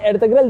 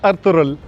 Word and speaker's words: Ertuğrul: और सर आपसे एक सवाल है, सर आपने एर्तुगरुल देखा है? अब्दुल्ला माइंड नहीं कीजिएगा, मैं इसका प्रोनाउंसिएशन सही कर दूंगा। इट्स अर्तुगरुल।